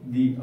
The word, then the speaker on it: the: তাহলে উচ্চারণের জন্য আমাকে কি মনে রাখতে হচ্ছে? ভয়েল এবং কনসোনেন্ট, অর্থাৎ যে ওয়ার্ডটার পরে আমি THE লিখছি বা পড়ছি সেই ওয়ার্ডটা কি দিয়ে শুরু হচ্ছে, সেটা যদি ভয়েল দিয়ে শুরু হয়, ভয়েল সাউন্ড দিয়ে, তাহলে আমি বলবো দি।